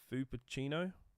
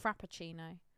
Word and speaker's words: Frappuccino: I'm going to try and pronounce this. Fuppuccino? like cappuccino, but with an F. Well, there's no P in there. Frappuccino.